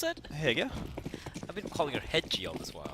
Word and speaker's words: Hege: As we wait, how do you pronounce it? Hege.